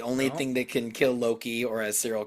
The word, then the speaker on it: Loki: goddess bracelet, the only thing that can kill Loki, or as Cyril called him, Lokai, in the video. Hey. Look, I was young. Nobody corrected me. The Avengers were not out. Loki wasn't in the lexicon yet.